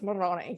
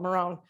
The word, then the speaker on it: Marrone: from Europe yes well in Italian it's Moroni but we call it Marone um is chestnut in